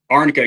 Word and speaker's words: arnica: It's um arnica. Yep. Is that how you say it? Arnica.